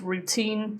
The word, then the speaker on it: routine: Notice routine does not have a glottle T because teen is stressed. Okay? When it's a stressed syllable, we don't put glottle toutine, not routine.